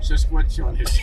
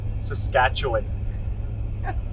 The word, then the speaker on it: Saskatchewan: -Sesquechawin -Where? -Umm... Shashcatchawin? Sassquawin. -Well, Kevin you tell us. -Not sure that I can pronounce it anymore either. Saskatchewan.